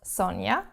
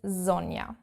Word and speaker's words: Sonja: Not Sonja, as I get called, but Sonja in German, proper correct German.